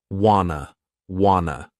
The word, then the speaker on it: want to: But what's interesting about this clip is how Adele pronounces want to as wanna. This informal contraction is incredibly common in spoken English.